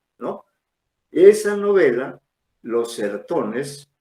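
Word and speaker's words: Os Sertões: se llama los cerrotones los sertones así como se escribe los serotones con ese no esa novela Los certones u o sertones se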